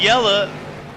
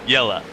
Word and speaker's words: Yella: I said, "Is it Yell or Yella?" And he said, "Yella."